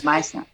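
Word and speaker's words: Meisner: Am I pronouncing it correctly? Yes, Meissner.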